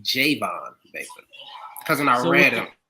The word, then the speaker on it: Javon Baker: I believe it's pronounced Javon Baker.